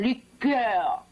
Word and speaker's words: liqueur: WHEN REFERRING TO A CORDIAL, WE USE THE FRENCH PRONUNCIATION-- LIQUEUR, MISS TINSLEY.